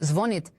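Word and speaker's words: звонит: Earlier the same institute stated that the stress in the word zvonit will in the future fall on the first syllable.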